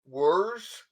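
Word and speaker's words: Werz: it yeah he too oh my name is worse and it's spelled w e r z and then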